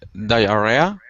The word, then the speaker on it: diarrhea: else besides menitis di diarrhea diarrhea diarrhea diarhea the pronunciation is really different than the uh spelling okay that's diarrhea diarhea